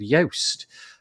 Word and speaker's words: Joost: He's called Yoast. Although it's spelt like that, is Joost de Valk.